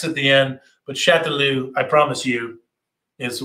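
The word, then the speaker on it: Chastellux: is this name chateloo this is how the family today pronounces their name chateloo even though it looks like chess deluxe uh there's an s there's an x at the end but chatelu i promise you is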